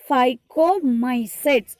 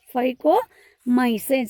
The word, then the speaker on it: Phycomycetes: The next spelling PHY, phi, CO, co, MY, my, CETES, sets. Phycomycetes. Phycomycetes. So like this only you have to pronounce.